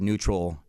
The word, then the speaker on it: NUTRL: We call it neutral, spelled phonetically, NUTRL, skin, for a reason, because